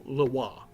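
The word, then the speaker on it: LeRoi: and this is lawa which is a Cajun French way of pronouncing how it's spelled Leroy uh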